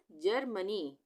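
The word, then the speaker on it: Germany: उसी तरह से GE जहाँ पर एक साथ आ जाएगा तो वहाँ पे ग का उच्चारण नहीं होगा, जी से ज बन जाएगा वो, तो ये क्या बन गया, जर्मनी, जर्मनी।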